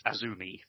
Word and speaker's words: Azumi: Now it's AZM, but how do they what's the actual pronunciation of that, Dan? Because they kind of play on the phonics, don't they? I believe it's Azumi. Azumi.